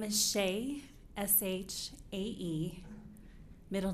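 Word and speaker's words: Shae: your name please thank you my name is Shea s-h-a-e middle name and maiden name s-a-n-d-e-r-s-o-n last name is pronounced like Harris with a lisp it's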